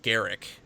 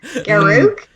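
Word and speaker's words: Garruk: And the chat's already turning on PK as far as how she pronounces Garrick. Garuk? That's literally how it's spelled.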